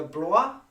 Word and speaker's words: Blois: So here we have, and prior to that we had the Blois. Is that the correct pronunciation?